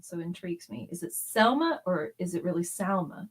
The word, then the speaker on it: Salma: if her name is s-a-l-m-a and her then her name is Salma right because that's the Spanish pronunciation of the name it's essay okay